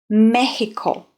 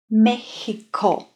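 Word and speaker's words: México: I think we can remember this one if we just think of the Spanish and how they pronounce the word Mexico. Mexico. Mexico. H.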